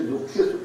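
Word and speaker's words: दुःखेषु: उनको यह पता नहीं कि दुखेषु दु के आगे विसर्ग है, इसीलिए वह गुरु है, तो उसके उच्चारण में जरा बल लगाना पड़ता है।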